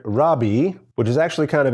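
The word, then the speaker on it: רבי: what is a rabbi rabbi is the English pronunciation of a Hebrew word Rabi which is actually kind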